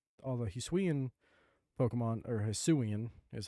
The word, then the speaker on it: Hisuian: it's most of, and that's what I love about Hisui too, is that all the Hisuian Pokemon, or Hisuian is how you say that name.